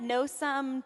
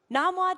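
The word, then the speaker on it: Nom Wah: Dim Sum at No Sum Tea House. Am I saying it right? Do you guys know what I'm Very talking about? good. What is it? Namwa Tea House.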